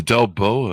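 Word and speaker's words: Delboeuf: And they call it the Delboa illusion. The Delboa illusion? Do I have that pronounced right?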